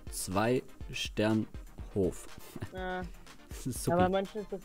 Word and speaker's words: Zweisternhof: Nee, ich hab nochmal nachgeguckt, die heißt Zweisternhof. Haben die ganze Zeit falsch ausgesprochen.